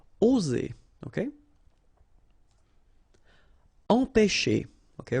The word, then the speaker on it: empêcher: Okay, remember accent circumflex on the top of E here goes like E. Alright, nasal here, en, pe, and then you've got this CH and it produces this sh sound.